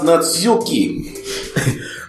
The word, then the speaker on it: Natsuki: It's pronounced Natsuki.